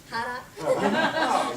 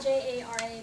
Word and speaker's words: Jara: And Ray, congratulations for saying it properly, Jara. It's spelled J-A-R-A, but it's my parents are from Ecuador, so it's Jara.